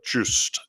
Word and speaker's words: Just: unlike the BBC intern, it's actually pronounced the way an Englishman would pronounce it.